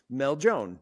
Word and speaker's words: Meljoann: it said, coming this weekend is this artist, Meljoann. Meljoann, right? I always want to say Meljoann when I see your name, but it's It is, yeah. Meljoann.